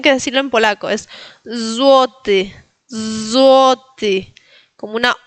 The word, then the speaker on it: złoty: Vimos en el anterior ejemplo que se pronuncia entre E y I, la Y, ¿no?